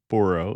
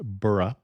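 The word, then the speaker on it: Borough: simply burrow market and it is not a New York burrow so it isn't pronounced Boro it's pronounced bah I would also recommend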